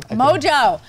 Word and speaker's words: Mongeau: Mongeau.